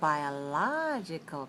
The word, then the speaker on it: biological: Because you're stressing the right syllable and you're stretching your body to show the stress.